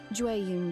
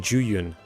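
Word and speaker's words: Jueyun: Juun chili chicken. Juun. That's how you pronounce jun. I was saying jun.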